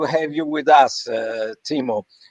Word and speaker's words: Teemu: you with us uh timo or table i think the right pronunciation is tamu yes how are you